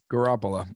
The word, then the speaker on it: Garoppolo: Garoppolo. Yes. That's what I said, Janine Garofalo. It's Jimmy Garoppolo, but yes. However you pronounce it, Janine Garofalo was very handsome, and